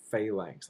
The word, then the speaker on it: phalanx: The hoplite phalanx. I'll spell that for you.